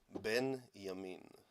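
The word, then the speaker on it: בנימין: This is the way we pronounced it in Hebrew. Ben Yamin, the son of the light, Netanyahu.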